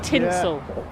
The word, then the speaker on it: Tintwistle: is this business about tinsel versus tint whistle versus tint whistle with an H which one is it is it only people who are local can say tinsel tinsel well I guess so